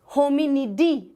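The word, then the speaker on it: Hominidae: लगता है लास्ट में, होमिनिडी, एंड you pronounce it एज डे नहीं बोलेंगे, डी बोलेंगे।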